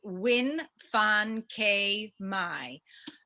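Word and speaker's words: Nguyễn Phan Quế Mai: which is the mountain sing and let me pronounce her name correctly because she's incredible it's win fan k mai this is her first book in english it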